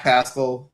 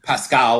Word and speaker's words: Pascal: I have the lovely and talented Zach Pascal, or Pascal, if you want to really pronounce it correctly.